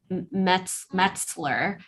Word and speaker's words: Metzler: Her name is Molly Smith Metzler is how you pronounce her last name.